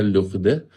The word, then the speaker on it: Lourdes: Kalau kamu pergi ke tempat-tempat ziarah yang terkenal seperti LD, Lourdes, Lourdes bacanya Lughde, kamu akan melihat banyak sekali krek-krek, tongkat-tongkat, kursi roda yang ditempelkan di dinding-dinding sebagai tanda terima kasih bahwa mukjizat terjadi.